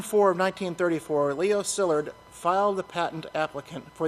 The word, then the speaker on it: Szilárd: pronounce this guy's name Leo Szilard I think is the way it's pronounced szilárd I think is how it is the pronunciation Leo Szilard and the invention of the atomic bomb that's mister that's that's mr.